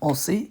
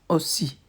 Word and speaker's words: aussi: It's not aussi, it's aussi. Moi aussi.